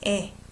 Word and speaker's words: 의: I pronounce this one as 에 because this is possessive. If I say 의사, that's doctor, I'm still gonna say as the way it's written, 의사. But when it's possessive, I say as 에.